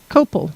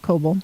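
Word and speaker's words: copal: um what is cobalt cobalt is copel not cobalt copel c-o-p-a-l um it is a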